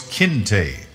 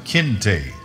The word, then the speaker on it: Kinte: and tell them that his name was Kinte, a sharp, two-syllabic, angular sound Kinte, which the little girl Kizzy came to know was, her father said, his name.